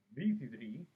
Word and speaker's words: V3: v3 or kamen rider vc3 as is pronounced in the original japanese language well this is the